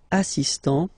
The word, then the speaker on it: assistant: the T assist so don't pronounce the final here but for the feminine form assistant okay assist assistant all right then